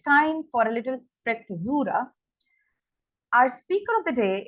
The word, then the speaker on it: sprezzatura: In Italian, now generally I would call it sprezzatura, but since I heard the pronunciation, it's called sprezzatura, is the art of making something difficult look easy.